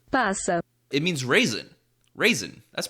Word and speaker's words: passa: Wait, let me check how you pronounce it. Passa.